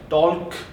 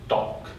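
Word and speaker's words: talk: first one इज टक यसलाई टल्क यस्तो केही भन्दैन है ल को चाहिँ वर्ड उच्चारण नै हुँदैन just टक then वक WAK वक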